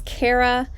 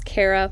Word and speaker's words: Kara: record i can say my name is kara some people pronounce it cara but i've known it as cara my whole life then i could pause